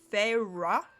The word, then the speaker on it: Feyre: sjm felt appropriate to insert the correct pronunciation fa I know it's not another spelling for Fairy I cannot tell you